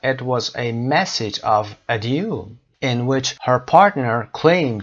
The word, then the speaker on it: adieu: این کلمه فرانسوی هست به معنای وداع، بدرود. adieu تلفظ میشه.